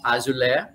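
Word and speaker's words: Azoulay: like him very much it is very ariella azole that i learned today that we pronounce azule i would say as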